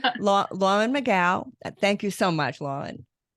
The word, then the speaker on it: McGough: Well, actually, she pronounced it McGough now. Lauren McGough.